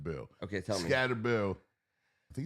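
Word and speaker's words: Skattebo: backs you know Christian McAffrey like I think scatterbo I wanted to tell you this today scatter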